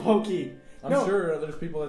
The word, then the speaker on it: Pocky: And pokey is actually close to the the actual pronunciation than pocky. Yeah.